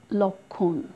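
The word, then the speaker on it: লক্ষ্মণ: তারপর আছে লক্ষণ, এখানেও যুক্ত অক্ষরের সাথে বসেছে, উচ্চারণ নেই কিন্তু নাসিক্য উচ্চারণ করেছি।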